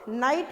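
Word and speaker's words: night: तो नाइट में भी, नाइट में क्या साइलेंट होता है, नाइट, नाइट, है ना. तो हम क्या नहीं बोलते हैं, हम जी नहीं बोलते हैं, ठीक है। क्या साइलेंट होता है, जी, ओके। नाइट, कुड, कुड, तो इसमें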